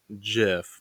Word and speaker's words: GIF: oh well is a gif or Jif well it's supposed to be jiff but everyone pronounces it gif choosing moms choose jiff